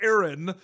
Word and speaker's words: Aaron: It's interesting, Jensen, because me, like, I really pronounce the A in Aaron. I always have. I had my best friend growing up. It was Aaron. But I guess if you say it quickly, it's Aaron.